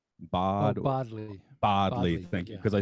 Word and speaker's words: Bodley: Bodley.